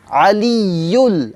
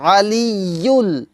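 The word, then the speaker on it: الْعَلِيُّ: আলিয়্যুল, আলিয়্যুল এই শব্দটা কিন্তু শক্ত হবে, হ্যাঁ।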